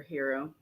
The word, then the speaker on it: gyro: It's called King Gyro or Gyro. And the guy is how you say it? Gyro. It's Greek. Yeah, say it again. Yeah, gyro. What do you say? They say around here, hero.